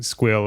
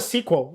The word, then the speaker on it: SQL: like, because you're saying squeal and my squeal. Because he's right. I mean, it's when you think about it, it's the only possible pronunciation. Because it's not a sequel. Like SQL, it's too weird.